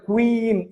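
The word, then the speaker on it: queen: പാട്ടല്ലേ അതുപോട്ടെ അപ്പോ എന്തായാലും ക്യൂൻ എന്ന് നിങ്ങൾ പറയരുത് ക്വീൻ എന്ന് പറയണം ക്വീൻ അതാണ് ശരിയായ പ്രൊനൻസിയേഷൻ ക്യൂൻ എന്ന് പറഞ്ഞിട്ട് എന്ത് ചെയ്യരുത്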